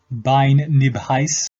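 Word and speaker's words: Beinn Nibheis: is been nervous in Scottish Gaelic it is pronounced bine nib highs the highest location in the united states of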